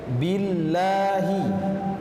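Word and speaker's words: بِاللّٰهِ: Yang tepat huruf baris kasroh harus ditarik bibir bagian bawah. I, billahi, ya. Jadi kasroh itu harus dengan pengucapan baris kasroh harus dengan sempurna. I-nya harus sempurna. Tidak boleh jadi e, jangan billahi. Ya, itu billahi.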